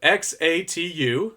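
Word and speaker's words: Xatu: mixed feelings and then we have X a tu that's how you pronounce it then we got big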